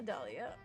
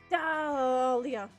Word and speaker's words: Dahlia: My name is a silent H in it? Yeah, Dahlia. And after the A, before the Leah.